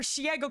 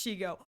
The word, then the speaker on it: Shego: Yeah, her shiago clip and I realized that's not how it's pronounced. That's not how it's pronounced. But I'm every I'm going to be real here. I know it's Shego.